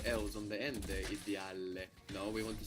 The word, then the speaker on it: ideale: The I, we don't pronounce it like I, like in ideal, do we? How do we pronounce it in Italian? Edile. Like ink. Edile. Requires a lot of thought, this one, huh? You have a lot of vowels to think about here. English fuses them together. In Italian, you will take the time to pronounce each vowel, and then we will